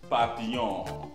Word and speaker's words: papillon: is french for you you don't pronounce the last consonant papillon okay saturn w-n-e can't english